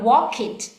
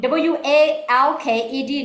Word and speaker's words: walked: It's not always like what we call wanted, we pronounce it's like two syllables for wanted when we put ed, but not walk it when we put walked, not walk it.